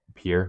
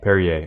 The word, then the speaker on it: Perrier: I can't really say much because the only thing I've had was that Pierre, right? I always Perrier. Perrier.